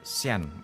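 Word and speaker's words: Jeanne: itu sempat diekskomunikasi Nah Joan atau Sian kalau orang Prancis bacanya Sian gitulah dibakar di tiang pancang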